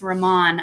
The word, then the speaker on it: Raman: We're saying your name wrong. It's Raman, and I apologize for that.